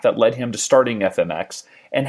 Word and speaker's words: FMX: and as I learned it is fmx not fmex even though that's how it's spelled I didn't know much